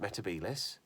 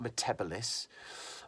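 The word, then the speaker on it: Metebelis: I'm not going to dwell on why nobody told Matt Smith to pronounce it metabelis because that's how you say it. It's not metabolis.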